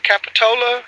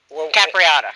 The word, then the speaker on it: Capriata: and then the uh capitola is that right am i saying that right debbie capitola oh i yeah you're not saying it right uh capriata capriata so as soon as